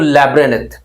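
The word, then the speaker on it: labyrinth: लिखा गया है, तो लैब्रिन्थ, क्या लिखा हुआ है, लैब्रिन्थ। अब इसको प्रोनाउंसिएशन में ध्यान रखना, लैब्रिन्थ, लैब्रिन्थ, क्या बोलेंगे, लैब्रिन्थ, लैब्रिन्थ यूज करेंगे, एन को साइलेंट रखेंगे।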